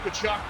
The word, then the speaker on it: Tkachuk: I'm going to say he rhymes with F-U-C-K, but either way, Tkachuk got a shot and a goal.